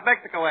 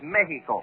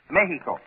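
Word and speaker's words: México: Mexico oh no not Mexico Eddie the Spanish pronunciation is Mexico yeah you make the X sound like an H you see Mexico Mexico that's right all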